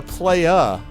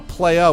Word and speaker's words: playa: But see, that's a player, but a playa. A playa with the accent on the A instead of the ER.